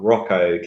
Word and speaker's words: Hracho: joined by your new favourite fighter, Hracho. how are you doing today? I'm doing great, and I love that you pronounced my name correctly.